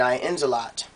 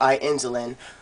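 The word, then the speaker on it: Aensland: of morgana aka morgan i insalat or i insulin however you want to go and pronounce it i pronounce it i ins a lot based upon the anime i insulin going towards with the video gaming the way they spell it um and it's also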